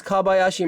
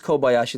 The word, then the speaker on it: Kobayashi: And she says, it says Kabayashi Madi here.